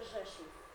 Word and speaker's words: Rzeszów: Esto se pronuncia Rzeszów, es una ciudad más grande cerca de Nienadówka.